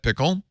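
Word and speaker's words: Pkl: didn't talk about pickle I'm pretty sure you pronounced that pickle yeah it St it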